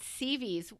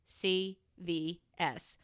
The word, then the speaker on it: CVS: And they said, "What do you mean you checked CVs? Where's CVs? Oh, no, it's on the corner of Peachtree and blah blah blah. Spell that for me. CVS. Oh, honey, that's not CVs. That's CVS. Oh my God, CVs.